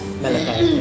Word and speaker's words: Malachai: So it's pronounced Malachai? Malachai.